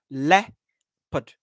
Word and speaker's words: leopard: Okay, the correct pronunciation of the word is leopard. So the E-O there is just nothing. It does not sound leo and pad. It's le and put.